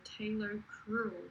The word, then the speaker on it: talocrural: So it's spelled Talocrual, so talocrural joint.